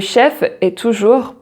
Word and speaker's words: chef: say the chef positive le chef so here the f the final f is pronounced and and then the